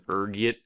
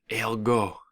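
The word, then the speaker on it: ergot: There's a few different ways you can pronounce it depending on your social standing, ranging from ergit to elgo. Being the disheveled pauper I am, I prefer ergit.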